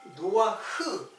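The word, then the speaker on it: נח: 그 뚜렷한 증거 중에 하나가 제가 이것 때문에이 구도를 이제 알게 되는데 노아라는 말이 노아라는 말이 노아흐 노아 흐에서 왔어요. 아니 노아 흐에서 온게 아니라 노아라는 그 발음은 노아 흐예요.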